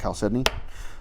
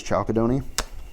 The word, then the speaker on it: chalcedony: I know Chalcedony is a rock that I didn't know was pronounced Chalcedony. I thought it was Chalcedony.